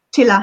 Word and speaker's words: Csilla: Am I pronouncing it? Csilla, yes.